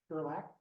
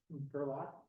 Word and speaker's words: Gerlach: Gerlach. Hello, Mike. I've Hi, been pronouncing I'm that all these years, and you guys have never corrected me. I've actually never caught it. You say laugh, not laugh. He's my nephew-in-law, you could say.